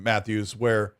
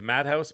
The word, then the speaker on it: Matheus: Xbox isn't willing to do what PlayStation is doing, Matheus, or Matthias. I'm sorry, I probably say that wrong. what's Matheus, I don't know. I'm sorry. I try to pronounce his name too. It's Madhouse. Oh, that guy, he's crazy.